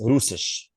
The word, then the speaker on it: Russisch: Yes, Russisch. So Russian. that is German, guys. Okay, Russisch. You will hear a lot of sha.